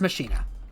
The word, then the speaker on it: Machina: So officially, it is pronounced Machina.